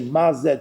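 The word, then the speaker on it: מה זה: It says tak over here that the Kri, when you pronounce it, you say Maze two words, like Ma and Ze.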